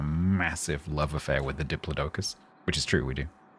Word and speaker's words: Diplodocus: talking about um what I would call a diplodocus, but he pronounces it diploicus.